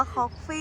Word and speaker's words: Koffe: เลย จ้า ทุก คน คอกกี้ คอฟี่ หรือ คอกกี้ เอา ดี ๆ อ่าน ว่า คอก ฟี่ นะ ทุก คน ใน